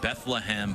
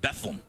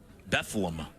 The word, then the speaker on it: Bethlehem: would know it's him it is not pronounced like you know the birthplace of Jesus it's not Bethlehem it's bethleem bethleem he say bethleem one one outside he